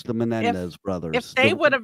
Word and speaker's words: Menendez: I guess maybe if the Menendez brothers.